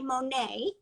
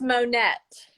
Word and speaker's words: Monette: i'm pronouncing it correctly i say monet but it's it is monette monette okay yes well that